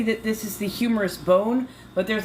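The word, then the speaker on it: humerus: humorous is that that that nerve that runs there it's spelled slightly different it just sounds the same as humorous haha it is spelled Hur q no a q r um I am not spelling right now but you know what I mean it's not an O us it's just a us so it sounds like the word it's a homophone why do I remember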